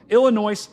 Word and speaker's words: Illinois: Illinois, that's the correct way to say it.